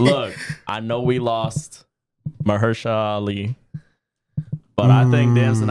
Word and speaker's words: Mahershala: Look, I know we lost Mahershala Ali, but I think Damson Idris could possibly be a substitute for Blade down the line.